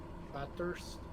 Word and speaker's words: Bathurst: You don't pronounce the H. Bathurst.